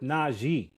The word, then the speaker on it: Najee: And today I'm with Naji.